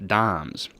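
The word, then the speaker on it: disme: of these 1792 half dimes. And it's worth knowing that in this year they were spelled D-I-S-M-E. We believe that it's still pronounced dime, but at the time there was an S in there.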